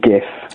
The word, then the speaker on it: GIF: Nar but I think GIF it's only the J the G is only a j sound when it's Jeff an EO I listen